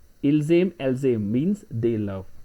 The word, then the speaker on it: ils aiment: Ils aiment, elles aiment, because ent is always silent in French. Ils aiment, elles aiment means they love.